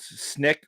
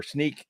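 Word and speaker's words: Snyk: from vulnerabilities coming from an engine called snick or sneak depends on who you talk to how you pronounce it but anyways we go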